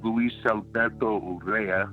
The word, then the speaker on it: Luis Alberto Urrea: His name is Luis Alberto Urrea. I got to say it like that.